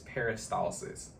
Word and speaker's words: peristalsis: but the correct way to say the word is peristalsis okay and that is